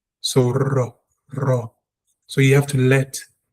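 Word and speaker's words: רע: For example, the word for evil is ra. The tongue must vibrate. The word. So your tongue has to be rounded off and it must vibrate.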